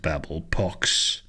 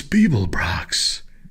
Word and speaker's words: Beeblebrox: You didn't complete your task, Babblepox. It's Beeblebrox, shouted the frustrated galactic president.